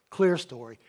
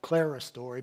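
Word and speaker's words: clerestory: Clear story. And it's, some people have pronounced it Clara story, but it's clear story.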